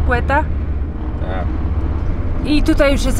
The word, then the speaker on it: Quetta: Jesteśmy w miejscowości Quetta pisze się, a czyta Quetta?